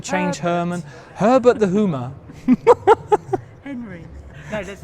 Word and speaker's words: Hymer: discovered that it's not Hymer. You don't pronounce it Hymer. And we've been pronouncing it like Hymer for eons, decades. It's actually pronounced Hoomer.